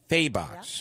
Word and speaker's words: Fahey: Fahey. Do I have that right? Faybox. Yep. Okay.